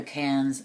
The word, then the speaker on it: Cannes: It's spelled C-A-I-R-N-S, but they pronounce it Cairns, kind of like the Cannes and, you know, Cannes Film Festival in front of it, but it's not.